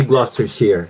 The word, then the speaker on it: Gloucestershire: So, to set the record straight, ang tanong sa akin ng marami, ano daw ba talaga ang tamang pronunciation? Is it Gloucestershire or Gloucestershire? It should be Gloucestershire, no.